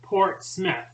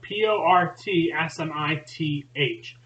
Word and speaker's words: Portsmouth: new understanding of yourself Portsmouth New Hampshire is pronounced Port Smith like p-o-r-t-s-m-i-t-h however it is spelled port's mouth it is a port literally like a Seaport right there at the mouth of the pisquatica river however everyone there pronounces that Port Smith think about that I